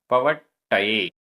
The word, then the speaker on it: पवट्टये: पवट्टये, आधा टा पूरा टा, पवट्टये, पवट्टये।